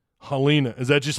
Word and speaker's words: Helena: uh m Michael Kerper says Helena Alabama's pronounced Hina oh is it helina is that just like